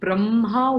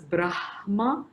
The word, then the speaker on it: Brahma: legitimate pronunciation for it having said that i would again go with the logic of the order of the letters that are written so if it is written i would prefer pronouncing it as brahma because the effect i